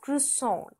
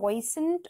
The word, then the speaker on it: croissant: and flicky right okay so and it is pronounced as cisson now again notice what I'm speaking it it's cisson okay so it's not Cent or something it's cisson okay now the example